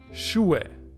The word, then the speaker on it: Schuhe: When it's in the middle or at the end of a word, you don't pronounce it at all. Schuhe, which means shoes.